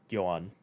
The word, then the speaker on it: Jhoan: So yeah, that's spelled Jhoan, if anybody's curious. So Johan, but not spelled like any other Johan.